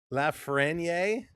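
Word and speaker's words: Lafrenière: You do pronounce the suffix R. Lafreniere.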